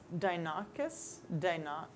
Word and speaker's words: Deinonychus: You are supposed to pick up a Dinocus? Rudy, how do you pronounce this? I'm not looking at it. I don't know. Spell it. Deinonychus.